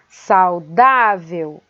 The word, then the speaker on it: saudável: Saudável é paroxítona, que termina em L, e flúor é paroxítona, que termina em R também.